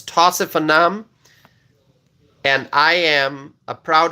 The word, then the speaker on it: Tausif Anam: Okay, so I know some people have challenges pronouncing my name. It's Tausif Anam.